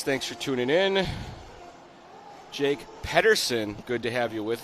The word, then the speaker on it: Patterson: Jake Patterson, good to have you with us.